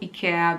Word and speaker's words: Ikea: rest of the video Ikea because that's how we call it here in Austria and that's how the Swedish people who invented Ikea call it and so I know